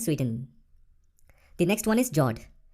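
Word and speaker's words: fjord: the next one is jord the f word is silent when you pronounce it these are a long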